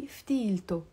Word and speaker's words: ftilto: But when we add the possessive ending o in the end, of course, I'm not going to say ftile o. I have to pronounce the te marbuta and I say ftilto.